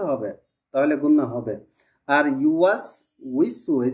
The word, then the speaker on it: يوسوس: উচ্চারণ ঠিক আসছে, কিন্তু উইটা লম্বা করে ফেলেছেন, এটা লম্বা হবে না। الذي يوسوس في صدور الناس শব্দটা একটু শুনেন, ইউয়াস উইসু, ইউয়াস উইসু, তাড়াতাড়ি হবে,